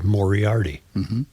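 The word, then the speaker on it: Moriarty: It really is a simple name to pronounce because it's M O R M I A R T Y. Mori Arti.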